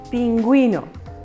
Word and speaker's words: pingüino: Pingüino. ¿Sí? Entonces, atención. Observamos que pingüino, la U sí se pronuncia y ponemos diéresis.